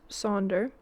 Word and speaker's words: Sonder: Pronounced Sonder, can be used as a noun or a verb, as you would use the word wonder.